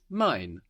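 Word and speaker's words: mein: so mine means my so I is spelled EI i n we know this EI gives us the I sound and mine is spelled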